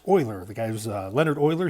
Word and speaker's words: Euler: of cool I think anyway and it's called Euler's theorem now a lot of people want to mispronounce this guy's name and say Euler which is kind of how it looks but it's pronounced Euler the guy was Leonard Euler he was a